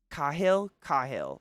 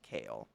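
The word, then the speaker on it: Kailh: Kahil, like Ka, like soft A. See, Whoa, Katie. I've heard it pronounced kale, but I don't know.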